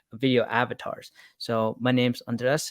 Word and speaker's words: Andres: my name's andreas it's you pronounce it like undress like undress your clothes or some stuff like that chris doe has my mentor my boss he he uh informed me that's what it sounds like so now i've been